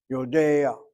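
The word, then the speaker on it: יודע: an ah sounding vowel, then you have a stolen patach. It's not a real vowel, it's a glide between the frontal sound, in this case of the A, to the last letter. Yodea, Yodea. When they say the ayin back in the day, it was like Yodea, Yodea. And so we write out Yodea, but the ah is sounded before the ayin.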